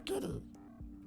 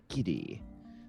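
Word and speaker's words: Gidi: I'm Giddy. G-I-D-I. Giddy.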